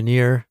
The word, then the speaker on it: Nir: Thank you to Near. His name is spelled N I and his site is near and far with near being spelled like his name.